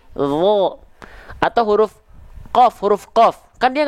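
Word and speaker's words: ظ: Huruf dho kan nggak dilafalkan za, tapi dho.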